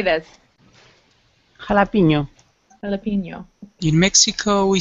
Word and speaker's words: jalapeño: Normally there's a little squiggle above the end. So it's pronounced like this.